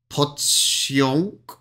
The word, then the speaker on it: pociąg: That's quite a difficult one to get the end. I'm going to just get him to say that again. Hang on. Ignore that one. Pociąg. See, that's saying it like a onk.